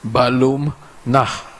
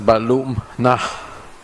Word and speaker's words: Balum Nah: to to pronounce but it means Jaguar home in Maya which is balum nah yesterday I heard a leader of the opposition mispronounced my name I forgive him you may not know better you pronounce it as balum and also with your